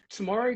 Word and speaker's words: TMRW: Um, so Tomorrow Kids was started by my wife Sarah and I. It's spelt TMRW, which is today must